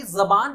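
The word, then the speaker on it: ज़बान: यू सी, जबान, नॉट जबान। This is a Hindi word of course, we pronounce जबान, इट्स जबान। ज, ये जो बीच में डॉट लग गया ज के नीचे, नाउ इट्स प्रोनाउंस ज, ये इट इज नॉट जेड, इट इज जेड, ज।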